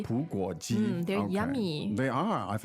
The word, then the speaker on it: 葡国鸡: 葡国鸡. 葡国鸡. 葡国鸡.